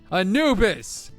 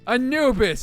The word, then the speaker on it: Anubis: Anubis! Anubis! It's not hard to remember. 3 syllables, dude.